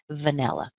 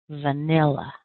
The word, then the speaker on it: vanilla: when you pronounce it vanilla so let me tell you right now vanilla has three syllables vanilla all right the first